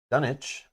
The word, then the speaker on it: Dunwich: play yeah she is dunich as in Greenwich Village pronounced grenwich yes I don't know I thought it was done witch but so it but